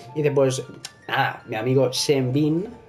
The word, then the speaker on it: Sean Bean: Y dice, pues, nada, mi amigo Sean Bean, o Sean Bean, es que se pronuncia casi como John, pero es Sean, Sean Bean, le pone la voz al rey de la película de tú, ¡ole!